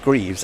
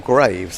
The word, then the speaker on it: Greaves: Now, we were just talking about whether Greaves should be pronounced Greaves as it's spelt, or Graves.